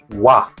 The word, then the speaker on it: 와: First, wa. It's o plus a. So start with o, lips round, and glide quickly into a. O, a. Wa, wa.